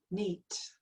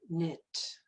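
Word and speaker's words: Neith: as mothers of creation neat or knit it's pronounced a couple of different ways she's got she's regarded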